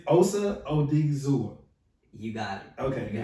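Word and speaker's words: Osa Odighizuwa: I'm gonna try to pronounce his name. Yeah, I'm not gonna butcher it. I promise. It's Osa Odigizua.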